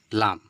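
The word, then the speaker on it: ل: উপরের অংশটা দাঁতের তো এই জিহববার আগালটা এখানে কি করতে হবে এই উপরের দাঁতের সঙ্গে টাচ করতে হবে তাহলেই দাঁতের উপরের দাঁতের যে মাড়িগুলো রয়েছে সেই মাড়ির সঙ্গে টাচ করে এই আওয়াজটা বের হবে বুঝতে পেরেছেন তো লাম তাই না তো কি হল লাম। ট্রাই করুন। জি হবার্বার আগালটা আপনার দাঁতের উপরে যে দাঁতের মালিগুলো আছে ওখানে টাচ করলেই লাম বেরিয়ে যাবে ভালোভাবে।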